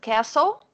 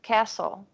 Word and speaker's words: castle: is that because of I know because of castle yes perfect perfect castle in the gleason glistening so you saw that we don't pronounce the teeth right yeah no listening care